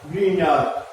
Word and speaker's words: Grignard: Reagent use होता है, ग्रीनार pronunciation में देखिए ग्रीनार, स्पेलिंग होती है GRIGNARD, ग्रीनार्ड, ठीक है।